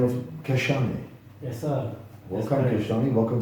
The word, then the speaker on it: Khashane: Khashane.